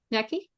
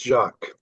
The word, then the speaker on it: Jacques: Thank you, Jackie. I'm sorry I'm not pronouncing your name correctly. So, could you help me there? Yeah, it's it's Jacques.